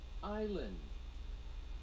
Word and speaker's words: island: Six, island.